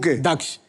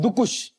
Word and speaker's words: दक्ष: दक्ष लोग मुझे मुझे क्या बुलाते हैं? लोग मुझे बुलाते हैं। और यहां पे आके मुझे नया नाम का वेरिएशन मिला है। दुकुश।